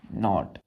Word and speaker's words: knot: एक बोला KNOT, नॉट। बच्चों यहाँ पर के साइलेंट होगा, हम पढ़ेंगे NOT, नॉट। तो इसका भी प्रोनाउंसिएशन सेम, नॉट, इसका भी सेम ही है, दोनों का प्रोनाउंसिएशन सेम है, नॉट, नॉट।